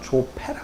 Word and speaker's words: 조파: 조사들의 이렇게 어떻게 보면 족보, 조파, 그걸 이제 한국 발음으로는 조패라 그랬어요.